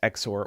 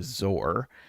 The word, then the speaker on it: XOR: Um, uh, although I guess you have you get to debate whether you prefer to pronounce exor as exor or zor.